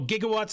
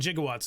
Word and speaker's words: gigawatts: heard something about like there's two different ways to pronounce it oh gigawatts and jigawatts they're both correct either way is correct oh okay technically by